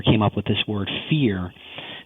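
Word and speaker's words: phere: My co-writer came up with this word fear. Sounds like the word fear, but it's actually P-H-E-R-E.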